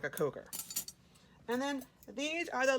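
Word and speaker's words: Kocher: I think it's spelled K-O-C-H-E-R, but it's coker. Like you are a mother coker, right?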